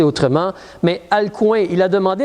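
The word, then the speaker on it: Alcuin: un monsieur qui s'appelle ma prononciation n'est pas parfaite parce c'est un nom un peu particulier alcoin a L C u i n Si tu veux prononcer autrement mais alcoin il a demandé à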